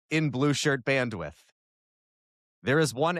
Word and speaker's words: Blueshirt Bandwidth: But yes, there is no possessive S in the name of this podcast. It is Blue Shirt Bandwidth.